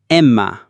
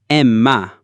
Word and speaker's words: Emma: E is pronounced like the E in bet or as in the exclamation, A. Emma. Emma.